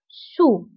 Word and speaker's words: sous: وانتبهوا بالنسبة للسو كنكتبوها بأس في آخر الكلمة لكنها لا تنطق sur sous.